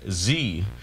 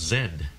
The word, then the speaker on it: Z: letter of the alphabet z whereas here in canada in the united kingdom it's pronounced zed unless you're robbie and